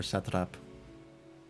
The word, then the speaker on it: satrap: Yeah, I want to meet this satrap person. Or satrap, as it's properly pronounced.